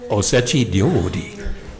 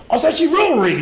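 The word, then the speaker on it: osechi ryōri: Osechi ryori. Osechi ryori, that's what I just said. Hey, everybody, let's say that together. Osechi ryori. It's actually one of the more difficult ones to pronounce.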